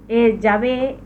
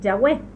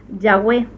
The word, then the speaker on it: Yahweh: ya lo expliqué, Yahvé, porque al pronunciar esta como Bab es el hebreo moderno, pero en el antiguo no era una Bab, sino se llamaba Wab. Es por eso está marcadito ahí. Es por eso que antes se lo pronunciaba así Yahweh.